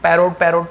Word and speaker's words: parrot: द पैरट was colourful, the पैरट, है ना, बहुत सारे पैरोट बोलते हैं, मैंने बहुत सारे स्कूल में भी सुना है कि पैरोट पढ़ते हैं, ओ नहीं होता, पैरट होता है, ओ उच्चारण में।